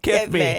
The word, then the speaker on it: Kethmi: And she says in her bio, if you're trying to figure out how to say my name, think Mike Tyson saying "kiss me." That's good Kiss stuff. me. Kiss me.